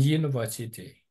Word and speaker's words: university: IT or computer in university. In the university. In the university. In the university. In the university. University. Nhớ âm ba.